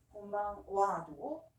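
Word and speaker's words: こんばんは: 그래서 곤방 와도 오늘 저녁 은는이기 때문에 와라고 발음합니다. 하지만 스펠링은 다 같이 곤방하.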